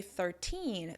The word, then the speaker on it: thirteen: If you notice when I say thirteen, the stress is on the second syllable, on the "teen."